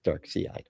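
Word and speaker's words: Darkseid: Um because he was working for Dark Seide. That's uh that's proper pronunciation by the way is Dark Sea.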